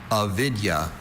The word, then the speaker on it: avidya: Avidya. May I please have the language of origin? This word is from Sanskrit. Could you repeat the word? Avidya. Are there any alternate pronunciations? There's just avidya.